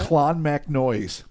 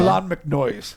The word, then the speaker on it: Clonmacnoise: Almost every pronunciation in here, I tried to triple check through various pronunciation websites, and I'm telling you, That's legit? Clonmacnoise is how they said to say it. All right. Okay. Clonmacnoise.